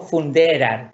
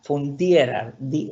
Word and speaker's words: funderar: No funderar, funderar. La E, acuérdense como es IE. No es E.